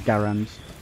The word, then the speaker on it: Garand: like one it's um like an M1 grand kind of thing or Garand whatever you want to sort of pronounce it like I think it is Garand but it doesn't do